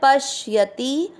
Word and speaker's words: पश्यति: पहला चरण यो, माँ के ऊपर अनुस्वार आधा माम, प के साथ आधा श पश, य में अमिक्स करना है पश्यति, स पूरा है स